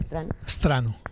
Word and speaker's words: Strano: Pues continuamos y se unió a esta mesa el señor Strano. ¿Cómo le va? ¿Así se pronuncia Strano? Strano, sí. Tal cual se escribe.